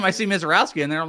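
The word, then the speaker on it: Misiorowski: Oh, Mizorowski, you dumbass. Well, I mean, like, I'm not looking at his name. I see Mizorowski in there.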